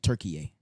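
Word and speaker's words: Türkiye: and I was like, So in the Turkish language, like their native language, they would pronounce it Turkiye, Turkey. but we would just say Turkey.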